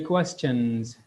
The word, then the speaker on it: question: So please do pay attention to how to pronounce it correctly, and we should say it question. நாங்கள் அதை சொல்லணும் question அப்படின்னு சொல்லி. That's question, not question அல்லது question.